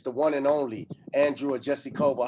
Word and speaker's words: Ojeisekhoba: If you don't know, it's the one and only Andrew Ojeisekhoba. How you doing? Well, you finally pronounced my name as if you're a Nigerian.